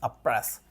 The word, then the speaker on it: oppress: Abuse के लिए जो एडवांस वर्ड हम यूज करेंगे वो है अप्रेस, OPPRESS, अप्रेस। इसका प्रॉपर प्रोनाउंसिएशन है अप्रेस।